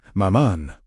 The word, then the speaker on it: Mammon: Mammon, pronounced mammon.